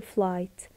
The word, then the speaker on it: flight: So I can tell her about our flight. ولذلك انا بقدر اخبرها عن our flight اللي هي رحلة طيراننا. Flight ال G وال H is are silent letters.